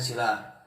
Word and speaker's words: sila: Panca berarti 5, dan sila dengan huruf I yang dibaca pendek mempunyai arti sendi, dasar, alas atau asas. Sedangkan sila dengan pengucapan I yang panjang berarti peraturan tingkah laku yang baik, utama atau yang penting.